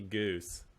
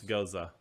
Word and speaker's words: Goza: what is it don't don't call me goose yes because people mispronounce Goza all the time yeah and they actually